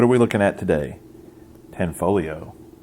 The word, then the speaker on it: Tanfoglio: Tanfoglio. The G is silent.